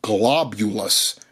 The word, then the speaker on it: Globulus: I believe we've got I was about to mess that up. Globulus. That's how you say it. There's an L in there.